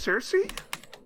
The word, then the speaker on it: Circe: the Greek goddess Circe Circe as it is really just Circe yeah just like in